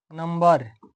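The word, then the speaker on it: number: लेकिन अगर बी के बाद कोई वर्ड हो तो बी का उच्चारण होता है। जैसे नंबर एम के बाद बी के होने के बावजूद भी इसको पढ़ेंगे क्योंकि बी के बाद इ आर आया है।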